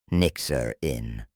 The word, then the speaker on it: Nyxiryn: After a lot of back and forth, we settled on Nyxiryn, pronounced NIX-er-in. It's a combination of Nyx, the Greek goddess of the night, and Irina, which means peace in Greek.